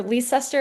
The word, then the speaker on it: Leicester: in Leicester, North Carolina, or Leicester is how I was taught to pronounce it, but I think Leicester is what the locals call it.